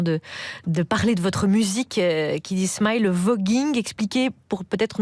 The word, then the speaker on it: Kiddy Smile: Kiddy Smile. Ça se prononce comme ça.